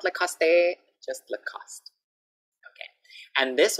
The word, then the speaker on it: Lacoste: Okay, another famous brand, Lacoste. Lacoste. Not Lacoste, not Lacoste, just Lacoste.